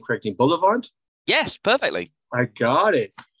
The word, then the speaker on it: Bullivant: but uh I have I hope I pronounced your last name correcting Boulevard yes perfectly I got it who did